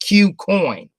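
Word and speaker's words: KuCoin: It's pronounced Q Coin, but it's KU for the letter Q.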